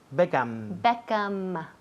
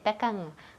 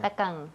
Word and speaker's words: Beckham: Beckham. Todo el mundo aquí dice Beckham con la boca abierta. Sí. Beckham, pues cierra.